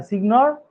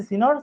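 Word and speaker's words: Signor: 5 নম্বর নিয়মে যাচ্ছি, এ যুক্ত করা, ম্যাসকুলাইনের সঙ্গে এ যোগ করে, যেমন সুলতান, সুলতানা, সিনর, হ্যাঁ, সিগনর, যেটা উচ্চারণ হচ্ছে সিনর, সিনোরা, ডন, ডনা, ঠিক আছে, এইভাবে এ যোগ করে অনেক সময় জেন্ডার চেঞ্জ করা হয়।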